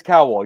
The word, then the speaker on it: Cowal: Is it Cowal or Cowal? It is Cowal. You pronounce it the first Cowal, time, right? Like Simon Cowal.